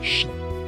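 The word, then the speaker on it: 四: In Japanese, the number four is pronounced shi, which is also the word for death.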